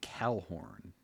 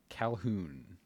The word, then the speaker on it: Calhoun: Sergeant Tamora Jean Calhorn. Calhorn. Calhoun. Sorry. I was reading it wrong cuz I I was afraid I was saying it wrong before.